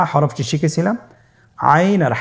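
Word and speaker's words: عين: আইন হরফটি উচ্চারণের সময় অবশ্যই 3 আলিফ টেনে পড়তে হবে এবং আইন হরফটি বারিক হরফ, পাতলা করে পড়তে হবে। আপনারা আমার সাথে বলুন আইন।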